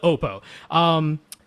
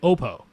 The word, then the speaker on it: Oppo: And when they answered the phone, they answered it Oppo. So I said, okay, they're Oppo. That's where I came from. But I wanted to check because I've seen lots of people say Oppo, including, at conferences or, like Tyle Hertzen when he went and checked out their PM1 and PM2 and PM3 headphones, and he called them Oppo, and they didn't correct him.